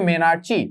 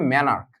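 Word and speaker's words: menarche: বাট বাংলায় যদি আমি এটার প্রোনাউন্সিয়েশনটা লিখি তাহলে হবে মেনার্চি, বাট অ্যাকচুয়াল প্রোনাউন্সিয়েশন হবে মেনার্ক।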